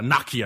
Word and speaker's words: Nokia: Good old Nokia. Or Nokia, I think as some folks pronounce it overseas.